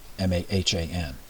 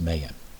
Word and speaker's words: Mahan: This admiral's name was Alfred Thayer Mahan, M-A-H-A-N. I've also heard it pronounced Mahan, or Mahan, whatever.